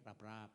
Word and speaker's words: Raprap: bukan orang batak ya nama saya itu raapraap satu kata yang ditulis sambung ya dan bacanya lembut dikit ya rapap gitu tapi masih lumayan loh